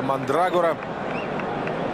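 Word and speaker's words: Mandragora: дебютирует 17-летний полузащитник орландо мандрагора именно так таким ударением фамилию назвал я но и даст им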